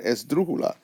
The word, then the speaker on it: esdrújula: However, when you say the word esdrújula, it goes up here, therefore you write a written accent.